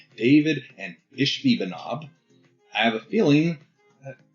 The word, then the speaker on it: Ishbi-Benob: And honestly, I had to Google it to make sure I was pronouncing it right. What is it? Ishbi-Benob? Ishbi-Benob.